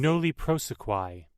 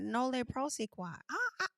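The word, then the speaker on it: nolle prosequi: Girl, let's ask Google to pronounce it. Noli prosequi. Oh, I wasn't far off when I said it the first. Nole prosequi.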